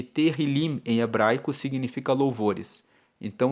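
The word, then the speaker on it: Tehilim: Salmos no texto original se chama terril se escreve t e h i l i m terim e terim em hebraico significa louvores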